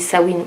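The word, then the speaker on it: Samhain: le sabbat de swin qui s'écrit Samain mais ça se dit sawin ou SN c'est un nom d'origine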